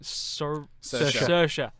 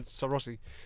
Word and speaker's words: Saoirse: I'm gonna have to try and pronounce this right. Saoirse. Yeah, I keep on saying Saoirse, but yeah, Saoirse Ronan's absolutely fantastic.